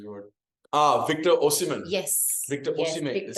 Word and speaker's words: Victor Osimhen: Victor Osimhen is how you pronounce his name.